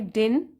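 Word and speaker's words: didn't: तो इसमें यहां पे जो है ये वाला डी, सेकंड डी, उसको हम प्रोनाउंस नहीं करते हैं, हम बोलते हैं आई डिडंट कैच दैट।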